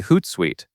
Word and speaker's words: Hootsuite: In Hootsuite, you do not want that suit sound. Instead, you want suite, which sounds like the everyday word for something pleasant or sugary.